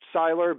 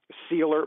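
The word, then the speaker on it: Sieler: pronunciation of that right I thought it was Sylar but the announcers were saying sealer well game anyway six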